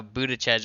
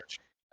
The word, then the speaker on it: Buttigieg: We can talk about how Buttigieg went there and Buttigieg? Yes. Is that how you pronounce it? Buttigieg.